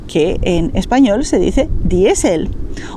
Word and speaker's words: diésel: Porque el laser está escrito con una letra A, entonces vamos a pronunciar lógicamente láser. Algo similar ocurre con diesel, que en español se dice diésel, o lycra, que en español es licra, o incluso whisky, que en español es whisky.